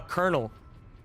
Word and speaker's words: colonel: language that I hate the uh pronunciation on based on the spelling uh colonel yeah why do you say that I don't know I hate it there's no R there's not a single R in there Co should be like